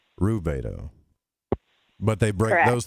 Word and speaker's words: rubedo: is pronounced Albedo, and the reddening, which is pronounced Rubedo.